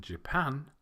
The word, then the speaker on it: Japan: You may have noticed that the last 2, Brazil and Japan, have the stress on the second syllable, whereas the first 3, Russia, Thailand, and China, have the stress on the first syllable.